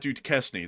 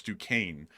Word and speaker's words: Duquesne: Like, for example, Duquesne, which is not Duquesne, that's Duquesne.